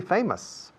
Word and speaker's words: famous: I'd like to be famous. Famous, famous, famous, famous, famous, famous, famous. Nervous. La OUS al final de estas tantas palabras en inglés se pronuncia como nosotros. Us. Para nosotros. For us. Famous.